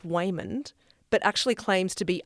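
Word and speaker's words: Waymond: very successful laundromat in the US her husband Wayman that is how you say his name by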